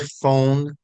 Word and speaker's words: phone: Can you spell the word phone? Phone? Yeah, like telephone, phone. You ever learn to spell that word? No. Phone. Very good. Good. And PH is always the sound of F.